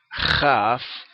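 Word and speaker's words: כ: Sin el punto, esta misma letra, se pronuncia JAF, como la J española fuerte, ¿verdad?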